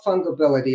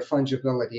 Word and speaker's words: fungibility: you have that is called fungal ability or fungibility if you're going to pronounce it properly um which is the